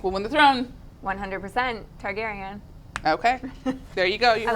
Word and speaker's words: Targaryen: oh oh my god that second one was Targaryen as in darn areas Targaryen and one hundred percent so obviously this questions for you who do you think will win the throne 100% Targaryen okay there you go